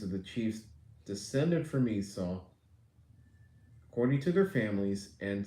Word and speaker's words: Esau: Esau. Like a seesaw. The last chapter went over who Esau's sons were.